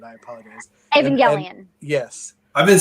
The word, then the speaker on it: Evangelion: What's obviously the I'm butchered, I apologize. Evangelion.